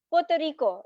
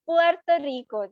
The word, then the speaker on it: Puerto Rico: Like Puerto Rico, the way you said, na Puerto Rico, it's not Puerto Rico. The normally people who do not understand or know Spanish, they will pronounce it with staccato, cut करके.